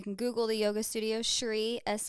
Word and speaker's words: Shri: Google the yoga studio Shri Sr r i people always like how do you pronounce it it it's SRI and Shri means like resplendence Beauty